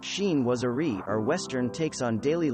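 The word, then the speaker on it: chinoiserie: often elaborate designs of shinwasri pronounced sheen wasari or western takes on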